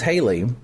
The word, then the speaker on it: Hallie: a very interesting spelling I think her name is Haley um but she spells it h a l l i e and so then it